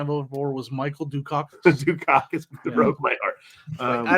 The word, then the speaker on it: Dukakis: Dukakis. That's the way it's pronounced.